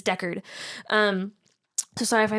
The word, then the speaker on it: Deckard: for uh rick deckert i call him deckhart but that's not his name because i know it just annoys my boyfriend it's deckard um so sorry if